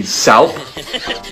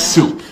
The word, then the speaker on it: soup: what's this word now it'd be sou as in chicken noodle sou no it's soup you don't see how it's because the p makes the o u o that's why